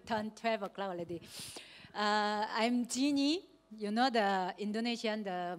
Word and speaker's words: Jinny: But the Jinny is not the G-I-N-N-Y, but it's the Jin, J-I-N-N-Y, you know?